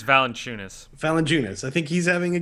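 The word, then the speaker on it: Valančiūnas: I can never fucking pronounce his name. Valanciunas. I'm not sure. I do believe it's Valanciunas.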